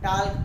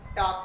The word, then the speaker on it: talk: जैसे कि TALK, अगर आपको नहीं पता कि एल से पहले अगर ए आता है तो एल साइलेंट हो जाता है, तो आप क्या पढ़ोगे? टाल्क पढ़ोगे, जबकि क्या होता है? टॉक होता है, टॉक।